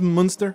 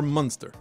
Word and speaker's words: Munster: your Munster your provolone C pronounced monster or monster your monster cheese your